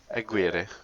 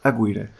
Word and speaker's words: Aguirre: Yeah, correct me if I pronounce it not good. It's Hector Aguirre, Aguirre.